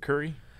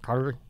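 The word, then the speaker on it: Kure: Beach, so is that how you say it, Curry? I don't know. That's a big debate. Curry, Curie, Cure. Spell it. It's K-U-R-E. That's definitely not curry.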